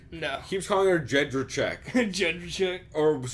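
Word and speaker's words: Jędrzejczyk: He keeps calling her Jedrzejczyk. Jedrzejczyk. Or it's worse than that, though. It's like Jedrzejczyk. Probably like Jed Shryzak or something.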